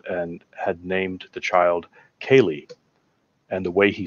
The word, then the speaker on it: Ceilidh: And the way he spelt it, we did not know that that's how it was pronounced. Right, yeah. Was it Ceilidh? Yes. We would have never guessed that said Kaylee.